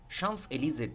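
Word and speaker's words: Champs-Élysées: ফ্রান্সের একটা বিখ্যাত রাস্তার নাম হলো সাম্ফ এলিজে শামফ এলিজে জিনের সাথে তার দেখা হয় এন্ড ডিসাইডস টু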